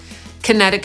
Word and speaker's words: Connecticut: Podsumowując, niektóre nazwy amerykańskich stanów mogą być kłopotliwe, nie wszyscy wiedzą, jak je poprawnie wymawiać. Te najtrudniejsze moim zdaniem to Arkansas /ˈɑːrkənsɑː/, Connecticut /kəˈnet̬ɪkət/, Illinois /ɪlɪˈnɔɪ/, New Hampshire /nuː ˈhæmpʃɚ/ i Rhode Island /roʊd ˈaɪlənd/.